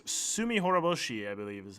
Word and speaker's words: Tsumihoroboshi: It's called Chapter 6, Tsumihoroboshi, I believe is how it's pronounced.